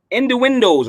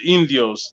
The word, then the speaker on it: Indios: Innuendos, right? It's Innuendos, right? No, it's Indios. That's Indios. That's Indians in Spanish.